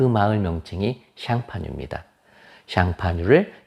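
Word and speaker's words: Champagne: 그 마을 명칭이 샹파뉴입니다 샹파뉴를 영어식 발음으로 샴페인이지요이 지역에서 생산하는 것만 샴페인이라고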